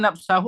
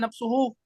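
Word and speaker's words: نفسُه: Nah, bacanya nafsahu apa nafsuhu? Nafsuhu. Nafsuhu. Nafsuhu. Karena dia mengikuti hukum muakkadnya yang dikuatkan. Kalau ra'aitul khalifata, nafsahu.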